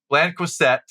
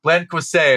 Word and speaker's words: Blanquicet: Blanquicet is how you might say it in the South. Blanquicet. Blanquicet is how I tried to pronounce it, and I butchered. That's not how you say it nowadays.